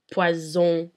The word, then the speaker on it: poison: When there's only one S, it's pronounced as a Z. For example, in the words poison and désert.